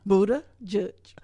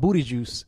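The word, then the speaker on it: Buttigieg: to say that name Buddha judge I thought I thought Buddha juice like I'm like the first word looked like booty to me it was like the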